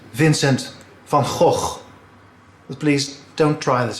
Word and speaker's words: Vincent van Gogh: The correct Dutch pronunciation is Vincent van Gogh.